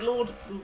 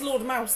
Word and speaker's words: Lord Mouse: Why do you say it like Lord Moore? It's a meme. Oh. It is Lord Mouse, though.